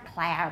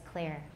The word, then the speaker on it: clear: Okay, it's not clair, by the way, it's clear.